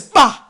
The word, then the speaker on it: ba: The sign is followed by the bird pronounced as Ba and denotes the soul together with the glyph for bread T, which is material.